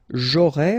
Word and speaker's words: aurai: J'aurai, remember, A and O together will produce this O sound. A and E, E. Aurait.